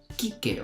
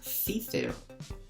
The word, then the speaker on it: Cicero: normas más relevantes son la ce se pronuncie siempre como k es decir esta palabra la leeremos como kicker o como veis y no se leería cicero como en español las ces siempre van